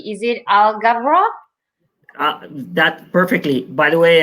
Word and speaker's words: Alghabra: on the end and I pronounce it so it's algebra yes Agha brah perfect work awesome I'll